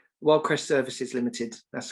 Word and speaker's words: Wyldecrest: And I pronounced the company name correct, right? Wyldecrest Services Ltd.